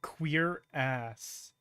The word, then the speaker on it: cuirass: If you need more reasons to hate the French, the proper way to pronounce cuirass is queer ass.